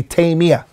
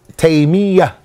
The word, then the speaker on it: Taymiyyah: the scholars said that the correct way of pronouncing his name is Tamia with a shed and the yeah many people make it with tuck fief and they say Tamia their correct way is Tamia but that's what we're